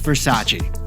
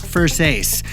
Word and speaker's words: Versace: For our second story, it's Versace. Or is it pronounced Versace?